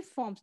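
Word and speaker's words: forms: Water is found in 3 फॉर्म्स, पानी जो है वो 3 फॉर्म्स। देखो ये फ्रॉम नहीं है, सबसे पहले ध्यान से पढ़ो, ये फ्रॉम वर्ड नहीं है। फ्रॉम होता है FROM, ये फॉर्म्स बोलते हैं इसको।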